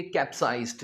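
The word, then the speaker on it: capsized: इसे हम बोलेंगे कैप्साइज्ड।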